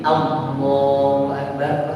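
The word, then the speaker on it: الله أكبر: fikih ada seunya nah kembali ke lafaz tadi Allahu akbar pertama lafaz itu lihatat lafaz itu sudah seperti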